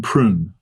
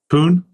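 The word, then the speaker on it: Pune: in Chennai yep and one in prun p pun there's no IR in it I don't think oh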